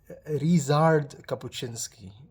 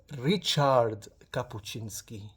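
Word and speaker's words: Ryszard Kapuściński: And when I hold it, I I pronounced it Rizard Capuchinski, but then Angelina very kindly corrected me and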